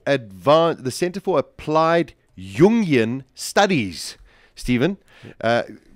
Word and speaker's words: Jungian: um Center for Advan the Center for Applied yunion studies Stephen uh yunion is that the correct pronunciation you got it okay so when I